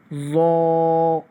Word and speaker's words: ضا: Proper ہو جائے۔ ضاد۔ اور جب ہم اس کو پڑھیں گے ضا کو تو وہ اس طرح پڑھتے ہیں ہم ضا ضا، یہ بھی موٹا اور نرم کر کے پڑھا جاتا